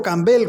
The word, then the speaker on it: Campbell: a Pedro cel cel agregó acentuando mucho la última sílaba Pedro cambel como me dicen los gauchos Así que nunca me